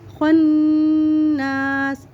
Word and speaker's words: خناس: من شر الوسواس الخناس۔ خوا کو موٹا کر کے پڑھیں گے خناس۔ الذی، ذال کو نرمی